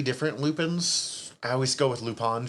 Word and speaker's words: Lupin: There's kind of 3 different Lupins. I always go with Lupin just because that's how it's pronounced in the anime, but either way.